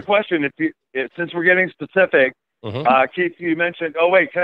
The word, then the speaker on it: Keith: And do they call you Keith with an F? I'm so used to that some people can't pronounce TH that I don't, I barely notice it anymore.